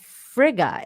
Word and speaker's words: Frigga: it because isn't that her name is frail but i heard fraga too so i don't know uh oh frigga is her name okay uh frigga is